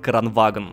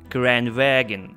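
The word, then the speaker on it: Kranvagn: Именно тогда вышел в релиз шведский тяжелый танк Кранваген. Хотя нет, неправильное произношение. Кранваген. О, так вот нормально.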